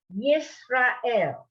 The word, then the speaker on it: Yisrael: Yisrael. Israel. I want to hear the yud. Yisrael. Yisrael. Good.